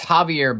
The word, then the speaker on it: Javier: All right, it's Javier Becerra, but then he shouldn't spell Javier with an X at the beginning. He should spell it with an H. Not an H. He should spell it with a J.